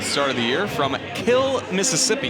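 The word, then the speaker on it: Kiln: This will be her 4th start of the year from Kill, Mississippi. Yes, it's pronounced Kill, Mississippi.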